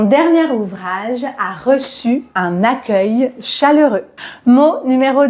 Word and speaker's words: accueil: E en premier mais rappelez-vous que la combinaison C + E se prononce ce et non pas que or dans le mot accueil on entend bien le son que et voici un exemple